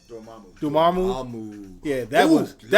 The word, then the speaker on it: Dormammu: It compensates for its flaws because the Mudamu, how you pronounce his name? Dormammu.